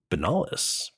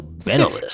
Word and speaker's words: Benalis: And you're playing Benalis. Okay. The emphasis is on the wrong syllable. So Benalis. That's okay. It sounds like bad cough syrup.